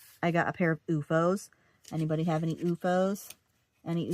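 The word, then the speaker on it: OOFOS: So, you know, I did research and I was himming and hawing and UFOs were like it's spelled O FO S.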